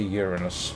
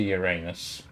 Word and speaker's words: Uranus: And incidentally, from what I gather, Uranus is actually the correct pronunciation, or at least the traditional one. For obvious reasons, I and a lot of others say Uranus, but apparently it's supposed to be Uranus.